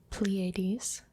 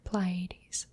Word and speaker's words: Pleiades: very close to it the open star cluster pleiades or plie pleiades or pleiades the 80s the 80s or ply 80s so whichever you prefer and the other open